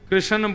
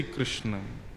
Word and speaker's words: कृष्ण: लाल की जय बंधुओं कई लोग इस नाम को अशुद्ध बोलते हैं कई लोग कृष्ण बोलते हैं कई लोग कृष्ण बोलते हैं कोई कृष्णा बोलता है भगवान का नाम शुद्ध उच्चारण करो नाम क्या है कृष्ण भगवान जय श्री